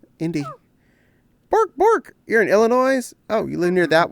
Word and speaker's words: Illinois: You pronounce the S just to vex me, don't you? No, it's just how I was brought up. I was told that's how the name was said.